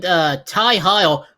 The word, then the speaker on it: Heil: Ophidian, Don't Call Me Pinky Sanchez, and Ty Heil. I'm not going to call him Hill because it's spelled with a Y. It's Ty Heil.